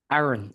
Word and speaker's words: Aaron: Aaron. Aa. Yeah. I I I appreciate you asking because h Yes. I heard I heard alter alternate pronunciation. So I always just tell people it's like, "Oh, it's just like Moses brother."